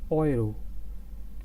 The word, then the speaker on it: Euro: as you can see it's not euro in english it's oil they're oiro as you can as